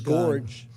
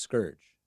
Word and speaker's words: scourge: all the time after this horrible scourge is gorge Medicare is also paying for less there's no one told him it's pronounced scourge they weren't appropriate at zero cost to patients